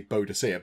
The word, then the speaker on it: Boudicca: I think it's pronounced Boudicca, but people sometimes do say Boadicea.